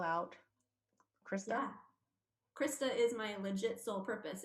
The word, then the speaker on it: Crista: different than what is common so can you pronounce or spell out krista krista is my legit sole purpose it's c-r-i-s-t-a and